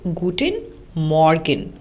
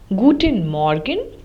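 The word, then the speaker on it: Guten Morgen: at these in German in German we say guttin Morgan which means good morning uh gtin arent which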